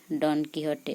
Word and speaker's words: Don Quixote: meanings this also please study Don Quixote say Don Quixote or tenesmus specially trained soldiers or high rank